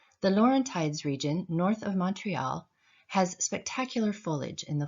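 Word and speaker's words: Montréal: in the province include Montreal Quebec and Laval Montreal pronounced in French is the second largest french-speaking city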